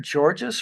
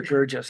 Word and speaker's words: Georges: Through the chair to, is it Mr. Georges or Gurgis? I've heard both tonight. Yeah, I just no, wanna it's fine. say your name Either properly. work. Georges. is the Georges, pronunciation. Yes, okay, thank you.